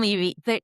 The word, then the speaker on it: Levy: Dan Levy, their family, they pronounce it Levy, and my aunt said they pronounced it like that because they're Canadian. Like, it's their Canadian accent.